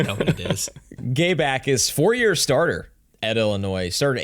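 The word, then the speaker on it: Jacas: That's how you pronounce it. It's yeah, Akis. No J.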